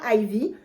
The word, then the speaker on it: Ivy: vie donc par jour de mots IV pourquoi Ivy parce qu'en fait on chiffre romain le chiffre 4 s'écrit avec un I et un V donc